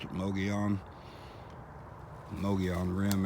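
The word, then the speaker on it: Mogollon: sand and gravel and the way that you pronounce this area is mogi on they spell at em OG o ll o n no gaalan but they pronounce it low G on no gear on the rim area that is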